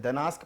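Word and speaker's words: Gdańsk: तो वेस्चुला, हाँ एक पोर्ट लिखिएगा, इसके मुहाने पे लिखिए पोर्ट है, दनास्क पोर्ट इसके किनारे है। दनास्क जी से लिखा होगा, जी से, जी साइलेंट होता है।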